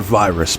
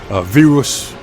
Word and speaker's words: Virus: It's spelled virus, but I like the way they say it in Spanish, Virus.